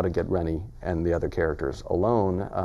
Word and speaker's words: Reynard: And his name is spelled such that a lot of people would pronounce it Rainy. It looks like mm-hmm. Rainy or Reynard. But I pronounce it Rennie because I had a friend named Reynard.